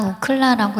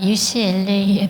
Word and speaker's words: UCLA: 저는 지금 김은국 씨가 우클라라고 읽어서 유명해진 학교를 다니고 있어요. 그 미국 캘리포니아 주립대학이고요. UCLA에 다니고 있습니다.